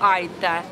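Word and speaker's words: aitäh: Спасибо наверное да спасибо Айта ударение на первый слов хватит Дада достаточно ну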